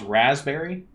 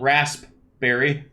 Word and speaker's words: raspberry: okay well it's raspberry which is spelled rasp berry but nobody says that do they say that in Canada - no they say raspberry don't they yeah they say raspberry the peace silent yeah English anyways thank